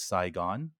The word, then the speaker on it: Sigh, Gone: child of vietnamese refugees title of that book is saigon which phonetically sounds like the city but it's actually the word psy comma gone which i think is